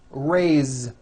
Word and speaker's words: raise: Now this word is a bit unusual because even though it is spelled with an S, it's pronounced with a voiced Z. Raise. So we say I raise with a voiced Z ending, and he raises.